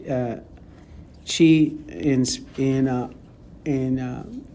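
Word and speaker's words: qi: to how to spell it but it's it's pronounced uh chi in in uh in uh asan in some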